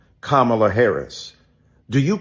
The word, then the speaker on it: Kamala: The other night, Keith Boykin and I were on CNN trying to be respectful to the Congresswoman who insisted upon mispronouncing Kamala Harris.